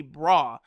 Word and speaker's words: Bra: say cell or Vegeta like the way RS and L's and work in Japanese it's clearly supposed to be bra because you look at